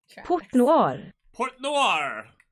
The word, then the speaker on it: Port Noir: listen closely here put on your headphones okay port noir that's what i said i just wanted you